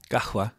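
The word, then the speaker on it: قهوة: coffee house but kaha kahwa kahwa is how you say coffee and like Egyptian slang Arabic it's like more h yeah but the theoretical way is oh like a like like a a soft q a h gahwa yeah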